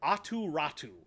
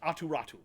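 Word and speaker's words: Aatu Räty: first round pick uh for Anthony bavouillier and aturatu which is not spelled like you think it is it is spelled a t y uh I believe it's a-u-t-y uh r-a-t-y and it's pronounced aturatu um so but it's basically a pick a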